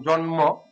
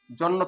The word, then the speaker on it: জন্ম: কিছু কিছু কষেত্রে বলছিলাম যেমন ন এর সাথে ম যেমন জন্ম জন্ম যদি উচ্চারণ করি এখানে জন্ম যদি উচ্চারণ করি জন্য বলি না জন্ম বলি তারপরে ল এর সাথে